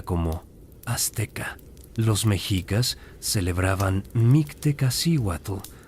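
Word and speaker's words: Mictecacíhuatl: Los mejicas celebraban Mictewatle, pronunciado Mictewatle, la señora de la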